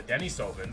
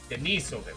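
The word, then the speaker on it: Denisovans: On top of that, our cousins, the Neanderthal and the Dennis Sovvens, as far as we know, were probably just as intelligent as we were. Denise Soven, not Dennis.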